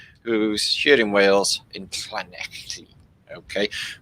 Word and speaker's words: Llanelli: Brian Buradabach, who's here in Wales, in Llanelli. Okay, we don't say L's. If it's a double L in Wales, it's pronounced like the same sort of muscles that you need to vomit.